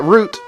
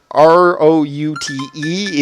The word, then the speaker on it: route: Apparently I am from the part of the country where R-O-U-T-E is root. That's always how I've heard it pronounced. If somebody said route, that would mean something slightly different to me.